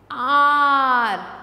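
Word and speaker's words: hour: सो an ice cream and umbrella, noun that begin with silent H, वो noun जिसमें H silent है, जैसे आर, आर में जब हम एच ओ यू आर बोलते हैं तो हम एच को छुपा देते हैं, एच को हम नहीं बोलते, हम क्या बोलते हैं,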